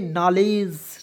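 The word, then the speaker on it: knowledge: ई तो क्या पढ़ेंगे नॉलेज नॉलेज डी को इसमें साइलेंट करेंगे के को साइलेंट करेंगे क्लियर यहां पे तो इसे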